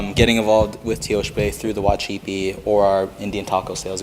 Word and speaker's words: Wacipi: Um for Native Americans we have the C as like a ch sound. So the correct pronunciation for Wacipi would be Wacipi instead of using the original um C sound.